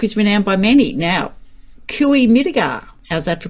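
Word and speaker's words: Cooee Mittigar: Now, Kui Midigar, how's that for pronunciation?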